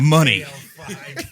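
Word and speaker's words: Muny: It's KL5 money. KL5 money. KL5. But it's spelled M-U-N-Y.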